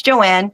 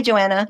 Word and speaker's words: Joanne: You've been, is it Joanne or Joanna? It's Joanne, but everybody, I say my name's Joanne. They're like, "Oh, hi, Joanna."